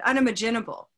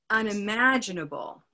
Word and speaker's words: unimaginable: on purpose I said unimaginable and that stress pattern unimaginable is not a word of English because I didn't use the right stress so instead it's unimaginable unimaginable try it one